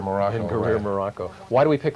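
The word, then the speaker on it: Ben Guerir: And that's Banjul, the Gambia, Moran, Spain, Zaragoza, Spain, and will you pronounce it for me? Ben Gurir, Morocco. Ben Gurir, Morocco.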